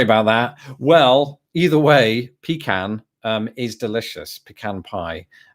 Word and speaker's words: pecan: I mean, I think pecan. How do you say it, wife? I think growing up I said pecan. Yes. But more often than not now I say pecan or somewhere right in between.